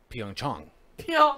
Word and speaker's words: Pyeongchang: plenty of the tappable so apparently even though it's has an aide we've been pronouncing it wrong it's Yong Chun so I spicy like